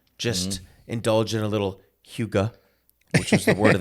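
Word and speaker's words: hygge: looks like it' be it looks like it'd be pronounced higgy but it's Huga h h h it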